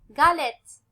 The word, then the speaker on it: galette: Regardez bien le mot galette, la lettre G devant quoi? Devant A. Donc, dans le cas qu'on trouve la lettre G suivie par A, on va prononcer le mot comme galette.